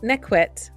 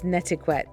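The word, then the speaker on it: netiquette: Behavior cyber ethics neit neet or politeness it's nequette sorry my pronunciation previously what should be verified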